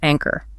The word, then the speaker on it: anchor: You literally have to slow down your breathing just to pronounce it clearly. Intentional. Try it. Intentional. Nice. Now how about the word anchor?